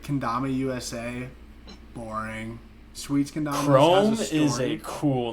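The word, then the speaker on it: Chrume: discovered Chrome and I first read it as Crom and then I was like, uh, that's kind of stupid. But then I like saw a video of somebody pronounced it Chrome and I was like, oh, thank God.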